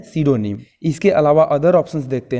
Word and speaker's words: pseudonym: देखिए, सीडोनिम का स्पेलिंग जो होता है PSEUDONYM, यानी ये पी से शुरू होता है और बोलते हैं इसे सीडोनिम।